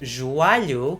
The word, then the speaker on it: joelho: This leads to joelho being pronounced joalho, or words like velho as in old and valho from the verb valer sounding the same.